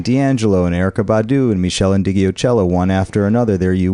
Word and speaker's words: Meshell Ndegeocello: roots and then D'Angelo and Erykah Badu and Meshell Ndegeocello one after another there you were you said